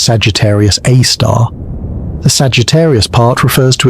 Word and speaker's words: Sagittarius A*: Sagittarius A* pronounced Sagittarius A star.